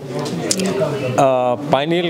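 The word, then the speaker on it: pineal: पाइनियल gland उसको ये कहते हैं, पीनियल ग्लैंड भी कहते हैं। उसके कई प्रोनाउंसिएशंस हैं।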